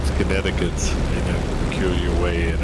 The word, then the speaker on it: Connecticut: do my best because I know that the C is not pronounced but I don't know about the so a French French friend of mine uh said Connecticut in aure your way